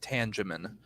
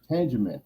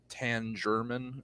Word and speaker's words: Tangeman: people either pronounce it tan German or you know right it's like yeah yeah it's like they add an unnecessary R into it for some reason I don't know right